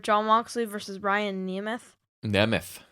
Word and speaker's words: Nemeth: Nemeth is the correct pronunciation.